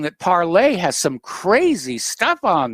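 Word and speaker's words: Parler: I know a lot of people call it parlor, but it's the French word for speak. And it's pronounced parlay.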